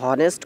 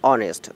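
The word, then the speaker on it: honest: তাহলে এখানে আমরা হনেস্ট কখনো বলি না, আমরা বলি অনেস্ট। তাহলে অ্যান অনেস্ট ম্যান, যেহেতু এখানে ও দিয়ে শুরু হচ্ছে উচ্চারণটা, কিন্তু ওয়ার্ডটা শুরু হয়েছে এইচ দিয়ে, তার মানে এখানে এইচের উচ্চারণটা নাই।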